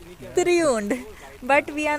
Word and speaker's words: Triund: Correct pronunciation? Triund.